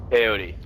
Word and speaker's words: peyote: Peyote. Like the drug. Okay. Peyote. You know peyote? I never heard of that drug. No? Really? Never heard of it. You're so peyote.